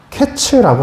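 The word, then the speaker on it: קץ: 여기 여름 과일이라는 단어가요. 히브리어로 어 타이치라고 해요. 근데 그 2절 말씀에 똑같이 나오는 끝이라는 히브리어 단어는요. 캐츠라고 하거든요. 카이츠 캐츠. 발음도 비슷하잖아요.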